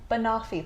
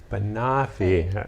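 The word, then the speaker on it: banoffee: pie she was saying banafi pie banafi okay i didn't even know how to say it which is a portmanteau for banana and toffee together toffee not coffee coffee toffee it's a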